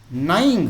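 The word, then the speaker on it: gnawing: तो mouse freed यानी चूहे ने मुक्त कर दिया द डियर यानी हिरण को बाय नाइंग है ना जी साइलेंट होता है।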